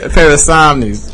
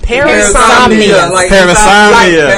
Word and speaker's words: parasomnia: Parasomnies. Parasomnia. There you go.